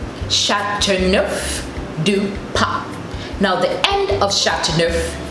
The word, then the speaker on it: Châteauneuf du Pape: In order to help you pronounce it easily, just think of the word enough and take out the E from enough, and you have neuf.